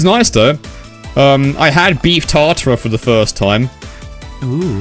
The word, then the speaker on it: tartare: Beef tartare. Beef tart. I think it's pronounced tartare. And what it is, it's like beef, but it's cooked.